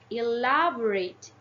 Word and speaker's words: elaborate: elaborate has four syllables elaborate yeah different from the others elaborate the primary stress is on the second syllable while the secondary stress is in the third syllable so if you want